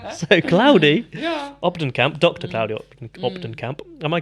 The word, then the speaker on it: Claudy Kamp: Claudy Kamp. Am I pronouncing that correctly?